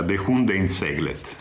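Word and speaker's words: Det sjunde inseglet: Che in svedese si pronuncia De Hundeinseglet, De Hundeinseglet.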